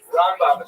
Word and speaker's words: Rambam: Rambam is pronounced with the emphasis on the first syllable ra and raan is pronounced within the second syllable raba and ramban.